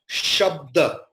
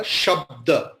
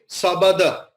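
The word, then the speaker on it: शब्द: Sha, half ba and ta, shabda. There we'll never say sabada, because the halanta, the half word, is in between the word. Then it will be clearly shabda.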